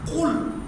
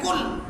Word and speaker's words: قل: قل هو اللہ احد، قل قاف پر کے بجائے کل کہتے رہیں گے تو نماز کیسے درست ہوگی؟